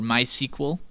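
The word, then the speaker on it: MySQL: M letter which stands for my SQL or my sequel as it's pronounced my sequel is a freely available open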